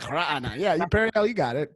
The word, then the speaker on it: Raanan: It's actually Raanan. Yeah, you got to have you got to be able to make a guttural sound to correctly pronounce my name. I can't do it. It's like Raanan.